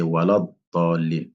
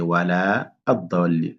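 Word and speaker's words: وَلَا الضَّالِّينَ: Là aussi c'est walad dallin. Là aussi, faut faire attention. Si on fait la liaison, on prononce pas le la. Donc là c'est wala ad-dallin.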